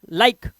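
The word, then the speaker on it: like: है ठीक है जैसे एल आई के ई ई है ना मत पढ़ो भगा इसको सिर्फ लाइक बस ऐसे ही टेक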